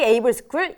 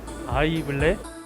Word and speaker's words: AIVLE: 기업이 원하는 실무에 강한 AI DX 인재가 되고 싶다면 정답은 KT 에이블스쿨 2기입니다. 인생 짧아요. 여기로 오세요. KT 에이블스쿨의 주인공은 바로 당신입니다. 지금 바로 지원하세요. AIVLE 어떻게 읽어요? 얼라이브 아이블레 AI블이 에이블스쿨. I는 묵음이에요. AI, 비전, 에이블.